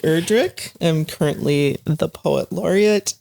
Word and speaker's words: Erdrich: name is Hy e erri people can pronounce it UR but remember we're not rich it's not erri or